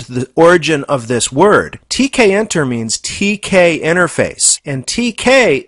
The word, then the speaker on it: Tkinter: to pronounce this framework is it tkinter I call it tkin and I think that's pretty much the standard way to refer to this